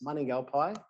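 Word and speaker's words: Mandingalbay: It looks nothing like it is spelt. So Mandingal Bay, it looks like, but it's Maningalpai.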